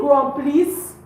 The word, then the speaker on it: remplissent: We don't pronounce the ENT. So we say ils remplissent.